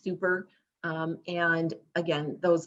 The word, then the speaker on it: SUPER: interaction um with families it is pronounced super um and again those